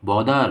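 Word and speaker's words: bother: परेशान करना, बॉदर, ब्रॉदर नहीं बॉदर, बॉदर, बॉदर्ड, बॉदर्स, मुझे परेशान मत करो, डोंट बॉदर मी।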